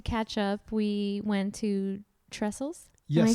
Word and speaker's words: Trestles: But yeah, so we actually, to catch up, we went to Trestles. Yes. Am I saying it correctly? Yeah, Trestles Beach in San Clemente.